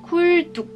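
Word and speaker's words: 굴뚝: Là je vais mettre pareil une petite importance sur la double lettre. Si ça vous intéresse, peut-être que je vous ferai une vidéo sur comment prononcer les lettres. Mais il faut savoir, petite règle de base du coup dans cette vidéo qui va vous être utile, c'est que les doubles lettres se prononcent sans aspiration.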